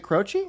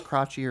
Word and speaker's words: Croce: Croce? Is it Croce? It's Croce. Oh, I thought it was Crotchy or something.